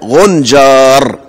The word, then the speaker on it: غنجار: كلمة غنجار، غنجار، غنجار، ماسكة ببعضها، غنجار.